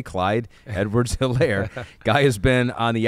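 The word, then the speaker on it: Helaire: positive was Clyde Edwards aair or hairir I just foret is silent h I think it is a little bit yes eclair uh 13 rushes 37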